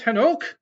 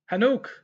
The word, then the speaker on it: Enoch: strong's h2585 channel his name is hanok this entire time i thought it was i thought it was enoch hanuk that's hilarious okay well